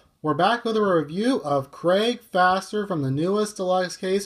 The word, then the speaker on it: Fäster: And it's actually pronounced Craig Fäster. And the reason why is because see those two dots on top of the A? It's kind of seen in some languages like German because I know a little bit of German. It's not faster, it's Fäster, how you pronounce it.